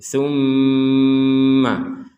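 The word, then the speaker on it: ثُمَّ: Di sini, ada seorang mim dengan tashdid; Kita harus mengucapkannya dengan bunyi sengau, kita membacanya dengan suara sengau. Tsumma tumma seperti itu. Tsumma. Jadi, ini bukan hanya soal tumma. Tumma saja tidak cukup, ya. Terdapat bunyi sengau, tetapi sangat samar. Yang diharapkan adalah setidaknya dua harakat, atau durasi dua ketukan.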